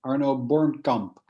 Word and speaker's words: Arno Bornkamp: um in the u.s we hear a lot um your name pronounced one of two ways arno bourne camp or honor born comp would you care to correct the record for everybody yeah that's good arnold bourne comp all right perfect thank